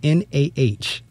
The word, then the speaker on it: Nah: The first name is N-A-H, Nah. And the last name is just like that peace bird. Na, the Afrocentric School.